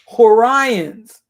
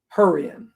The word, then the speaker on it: Hurrian: Let me make sure. Let's get a correct pronunciation. Let me get a correct pronunciation. Hurrian. Okay, so Hurrian.